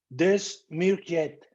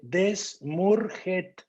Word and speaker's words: Desmourget: El autor se llama Michel Desmourget. Lo voy a pronunciar como se escribe. Desmourget. Con G y al final T.